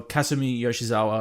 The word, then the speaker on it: Kasumi Yoshizawa: out, is, Kasumi Yoshizawa is her name, or Kasumi Yoshizawa, I should say, is the pronunciation.